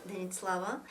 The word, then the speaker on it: Denitlava: My username on YouTube or Instagram or Facebook is Denitlava. That's how you pronounce it. Denit Slava.